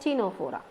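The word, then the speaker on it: Ctenophora: C is silent, Tenofora.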